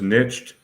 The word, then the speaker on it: nicht: It says nicht storen. Storen. I'm not sure what that means. It means nicht is not. Nicht. That's how you say it.